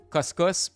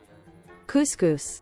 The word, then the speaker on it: couscous: only had butterc corn, cuscus, and black beans. How do you even pronounce this? Cuscus. How to pronounce couscous. Couscous. It's the complete opposite of what I said.